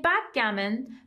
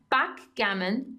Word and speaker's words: backgammon: You can say backgammon, backgammon or backgammon. در واقع استرس ها متفاوته.